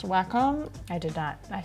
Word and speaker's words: Wacom: because I like saying we comb better Wacom feels like I'm playing whack-a-mole totally yeah but apparently